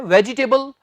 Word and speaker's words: vegetable: सोचेंगे आप, बड़ा इजी है, वेजिटेबल, लेकिन यही हम गलती करते हैं। इससे आपने ये नहीं कहना वेजी, जी नहीं, ज कहना बस। सो वेजिटेबल नहीं, वेजिटेबल।